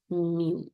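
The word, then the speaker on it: μ: As that x बार, एंड the other one इज म्यू.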